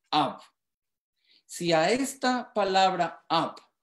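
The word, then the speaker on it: אב: Y la palabra padre se pronuncia Ab.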